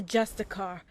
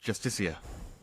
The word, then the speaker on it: Justiciar: He's a Justicar, a Thalmor. It's pronounced Justiciar.